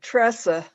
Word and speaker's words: Theresa: Actually, I pronounce it Tressa, but Tressa. yeah, that's the way my parents pronounced it.